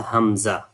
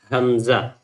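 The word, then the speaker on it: همزة: Ha, Hamza. It's like also the Hamza is the name of one of the boy's name and maybe you can pronounce it easily like Hamza.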